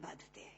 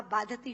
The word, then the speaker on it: बाधते: नहीं दे रहा जितना आपके मुंह से बोला हुआ बाधति शब्द कष्ट दे रहा है क्योंकि बाधते शब्द का अशुद्ध उच्चारण आपने किया है यह शब्द बाधते होना चाहिए भारत न बाधती राजन